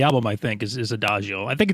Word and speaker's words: Adagio: like um in the new album is it adagio is how you pronounce it yes yes yeah that song blew